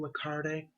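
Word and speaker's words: Lecarde: heard its name was that's how you pronounce his last name le carde you don't mean the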